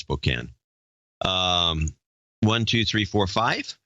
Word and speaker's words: Spokane: Valley Spokane he was Spokane yeah this is pronounced spoken one two three four